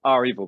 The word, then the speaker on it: REvil: about how our evil our evil by the way apparently is the official way to pronounce uh uh revel um anyway they he